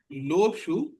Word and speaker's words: लो शू: इसको लिखते हैं लो शू, और इसका जो प्रोनाउंसिएशन है वो है लो शू। हा की साउंड इसमें आती है।